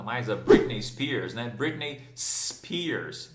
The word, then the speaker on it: Britney Spears: Britney Spears, e não Britney E. Spears, né? Não tem izinho, tá bom, gente?